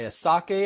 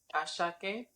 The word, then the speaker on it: Asake: Ashake. Oh, there's no H, so that's why I said it that way.